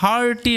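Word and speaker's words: hearty: যখনই ইএ তারপরে আর থাকবে, তারপরে এক্সট্রা কোনো লেটার থাকবে, সেই ক্ষেত্রে ইএ এর উচ্চারণটা আয়ের মতো হয়।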